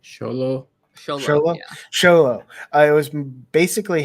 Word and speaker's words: Xolo: xox exolo how do you say his name sholo sholo sholo it was basically him uh um